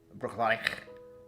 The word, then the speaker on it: Bruichladdich: Bruichladdich is supposed to be Bruichladdich. There's a real tilt and roll to the first ich.